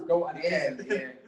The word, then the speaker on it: goat: Because one of the first questions that we got was preferred goat house. Go House is uncomfortable to say out loud. That's how we pronounce goat. Goat in Ireland don't pronounce the T's, so we're saying Go House anyways.